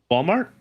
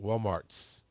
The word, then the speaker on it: Walmart: Walmart. Correct. Lots of people in the south put an S on it. Walmart's Kroger's.